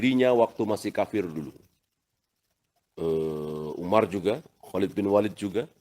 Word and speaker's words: عمر: Pakai wawu, kalau tanpa wawu dibacanya Umar.